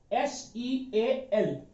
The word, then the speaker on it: seal: यहां पर देखिए, यह सील, SEAL, SEAL। अब यहां पर देखना, ई सील। अब ई का प्रोनाउंसिएशन तो ई हमें मिल रहा है, लेकिन ए तो मिल नहीं रहा है।